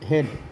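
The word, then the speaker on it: head: इसके आगे मैं नियम भी बताता हूँ कब होता है ये हेड में देखिए, ये हेड एच ई का उच्चारण होता है, ए का नहीं होता है।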